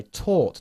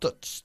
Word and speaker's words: taught: yesterday I tou you I taught not touch I taught Tor taught again yesterday I taught you good forget the GH the GH is simply there to annoy you okay doesn't do anything